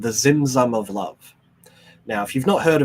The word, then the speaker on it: Tzimtzum: Now, this Tzimtzum, spelt T-Z, not with a silent T, basically, Tzimtzum, It describes this interesting balance between presence and absence.